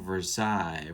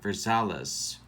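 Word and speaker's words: Versalles: and will catch and zoilo versailles versales i've seen it pronounced both ways on youtube i looked it up i don't know uh versales is what i'm going with uh he will bet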